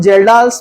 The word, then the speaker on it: Kjeldahl: Again estimation of nitrogen as a ammonia from जेल्डाल्स method. इसको बंद कर दो। चलिए आगे बढ़ते हैं हम जेल्डाल्स मेथड। जेल्डाल्स मेथड, इसमें के साइलेंट है जेल्डाल में।